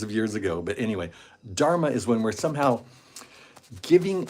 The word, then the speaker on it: Dharma: beautiful word in Sanskrit it's called Dharma it rhymes with Karma actually I think they